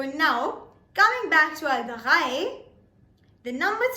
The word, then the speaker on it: drei: Now if you pay close attention to the R of the drei, then you will understand that we are pronouncing it differently. We are not pronouncing it as drei. Instead, we are pronouncing it as drei. Drei. Germans pronounce R differently.